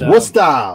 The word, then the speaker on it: Worcester: us you got to say it like this worcester what's yeah i talked i don't know how